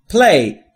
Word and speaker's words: play: در مورد تلفظ play دقت بکنید دوستان، نگفتم play، play. play بین p و l صدایی وجود نداره، پس میشه play و با حالت ing‌ش میشه playing یعنی بازی کردن.